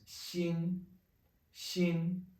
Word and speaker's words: 新: The word for new is 新,新. Same pronunciation as heart. 新, it's only a different character.